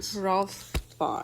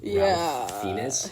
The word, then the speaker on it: Ralph Fiennes: Ralph Fiennes. Which is weird. Like it does look like it's spelled Ralph Fiennes, but it's Ralph Fiennes.